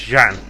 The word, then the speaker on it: Zhan: But it took me a little while to remember how you were supposed to pronounce Zhan. And it was only when they rendered her name for the English version as Lily Chan that I remembered it should be Zhan with that correct pronunciation on the X.